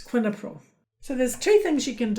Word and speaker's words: quinapril: And the last one, you could look at and think, oh, that's easy to pronounce quinapril, but it's quinapril.